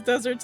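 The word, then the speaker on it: just deserts: The food just desserts because deserts in this phrase is pronounced the same as a sweet treat comes from the verb dessert.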